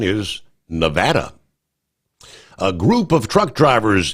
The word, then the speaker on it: Nevada: Uh, I've always said Nevada, yet the correct pronunciation is Nevada.